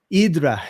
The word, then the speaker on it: Hydra: parara something to the island of idra which is spelled Hydra and being a comic